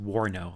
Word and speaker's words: WARNO: didn't see it yeah it's pronounced warno like warning order warno yes that was the